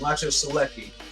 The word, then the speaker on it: Maciej Sulecki: I always forget the pronunciation. Maciej Sulecki.